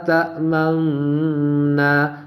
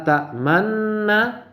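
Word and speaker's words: تأمنا: Nah, contoh lafal bacaan ismam itu terdapat pada lafal la ta'manna dibaca la ta'manna dengan cara tadi apa? Mencampurkan harokat dhamma pada harokat sukun dengan cara apa? Memoncongkan kedua bibir. Jadi coba dipraktikkan lafaz la ta'manna dibaca menjadi la ta'manna dimuncongkan bibirnya.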